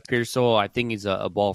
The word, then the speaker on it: Pearsall: Ricky Pearsall.